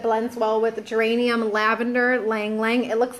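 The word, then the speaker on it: ylang-ylang: well with it blends well with geranium lavender ylang ylang it looks like yelling yelling but it's laying lying that's how it's pronounced and other citrus oils like orange grapefruit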